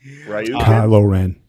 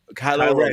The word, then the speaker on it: Kylo Ren: Man, I can't pronounce his fucking name. Kylo Ren. Kylo Ren.